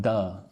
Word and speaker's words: to: Again, the word to I'm saying like duh and I'm putting it with the word trying.